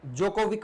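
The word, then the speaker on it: Djokovic: Novick D silent रहता है। जोकोविक बोला जाता है।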